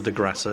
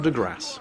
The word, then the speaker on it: de Grasse: It's not the de Grasse, you don't pronounce the E, but the de Grasse.